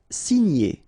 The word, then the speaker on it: signer: Signer, okay? G and N together, gn. Signer, signer.